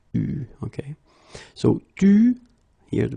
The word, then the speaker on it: eu: Il a eu, okay, you write it like that, but you pronounce it eu, okay. So tu, here the participe passé, eu, and then plus.